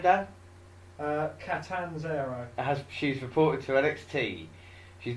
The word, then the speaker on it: Catanzaro: WWE officially announced today that how do you pronounce the name, Dan? Catanzaro.